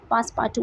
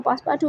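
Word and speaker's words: Passepartout: पासपार्टू is French word, और French में इसकी प्रोनाउंसिएशन थोड़ी डिफरेंट है. इसको हम पासपार्टू पढ़ेंगे, लेकिन इंग्लिश में हम इसको पासपार्टू प्रोनाउंस करेंगे.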